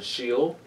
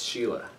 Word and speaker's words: Schiele: other than egon sheila i said you got shield but i just looked it up how to pronounce it and it's sheila or sheila and if it's i'm